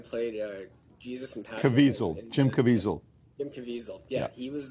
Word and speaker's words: Jim Caviezel: think they had the i'm gonna say his name wrong but like jim cassavelli you know the guy who played uh jesus in town jim caviezel jim caviezel yeah he was there talking you